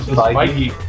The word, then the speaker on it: Feige: I'm gonna call him Feige. That's I never knew how to pronounce it. Well, according to the Iron Man 2 screenwriter in an interview I just saw, Feige.